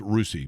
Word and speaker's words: Russia: In Russia, Ohio, which I believe is pronounced Rusi, but nonetheless, it's Amish operated.